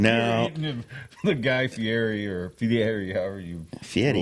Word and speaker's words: Fieri: I like how you pronounce his name properly. Guy Fieri?